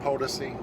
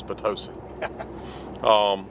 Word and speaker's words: Potosi: one you mean mouth policy its potosi is policy okay what does he know POTUS II nobody would pronounce that policy that's stupid it's potosi it's like um pronouncing potato